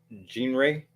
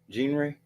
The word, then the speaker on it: genre: the word genre Betty it's not Gene Ray is it Gene Ray the way she said it genre it's genre okay um but I'm not